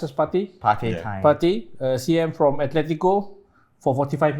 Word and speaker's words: Partey: You pronounce as Partey? Partey, CM from Atletico for 45 million.